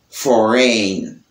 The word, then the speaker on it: foreign: Dans le mot design, ouais, design, G a pas prononcé. G a silent. Nous gagnons resign, foreign, foreign, ok?